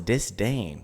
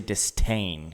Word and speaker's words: disdain: to take over way say disdain that is how it's spelled is disdain people say disain usually th tea in